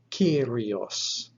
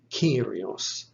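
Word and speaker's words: κύριος: So it is spelt with a kappa, epsilon, rho, iota, omicron, sigma. So you'll find the second letter is our epsilon, giving us the E sound. This word is pronounced Kyrios, Kyrios.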